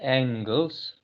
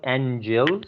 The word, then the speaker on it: angle: the angles sure the angles right we have to pronounce as angles not angels aren't shabba it is